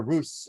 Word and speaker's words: Rut: of the second was root I'll be using root or Ruth this is a translation from a a different type of ashkenazic pronunciation and so they call her ruse throughout the uh the text no relationship